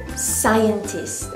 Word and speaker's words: scientist: The stress you have to put on the first syllable, sai. Okay, so we have here sai, cyan, and tis. But the stress on the first syllable, so it will be scientist.